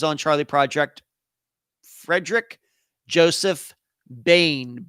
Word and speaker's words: Boehm: Charlie project Fredick Joseph Bane b o e hm why it's pronounced that way I don't know but that's the way I pronounce it um Michelle says thank